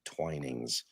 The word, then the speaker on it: Twinings: It looks like it's spelled Twinnings, but I believe they pronounce it Twinings tea.